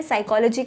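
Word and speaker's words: psychology: साइकोलॉजी के correct spelling क्या होता है, यहाँ पर पी साइलेंट होता है, it starts with P एंड पी is silent.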